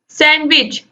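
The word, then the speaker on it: sandwich: इसके बाद question number 51 है विच letter is silent in the word सैंडविच, सैंडविच में क्या साइलेंट है, NWD या फिर S? दोस्तों सैंडविच में साइलेंट है D, ऑप्शन डी जो है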